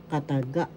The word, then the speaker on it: kataga: n in tagalog syllables kataga in tagalog syllables kataga First syllabol ka. Second syllable ta. Third syllable gaat. The accent is in the third syllable. So you pronounce this or bigas in tagalog kataga.